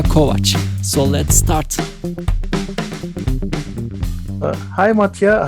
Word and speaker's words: Matija: i'm really curious who is who is mattia matia is it how do you pronounce it yeah yeah that's that's right you